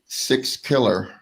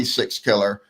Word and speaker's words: Sixkiller: Sixkiller.